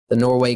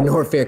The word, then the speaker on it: Norfair: what's called like the Norway cleanup or scooping Norway the norfair cleanup I'm sorry I referred to an or fair is Norway in some of my split says sometimes accidentally pronounced but nor fair the first cleanup is